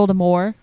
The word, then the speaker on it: Voldemort: that was pretty good she never wanted the t pronounced we learned that when we were doing our harry potter star wars uh podcast it was always supposed to be voldemort like voldemort and then people said